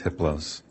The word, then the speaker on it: Hypolos: a level four entity his name is hypolos the H is silent the other three are